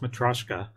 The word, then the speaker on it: Matroska: That's a Matroska file, spelled Matroska, pronounced Matroska.